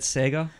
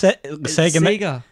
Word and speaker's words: Sega: No, because you said Sega. It's Sega. The Sega Mega Drive. Sega. It rhymes.